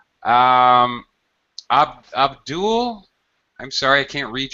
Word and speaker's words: Abdul: yeah I think uh the shortest is to pronounce it like Abdul ABD d l well